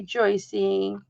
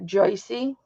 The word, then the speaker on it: Joyce: Hi, Joycey. You know, somebody messaged me so as not to embarrass me to tell me that your name is pronounced Joyce and not Joycey.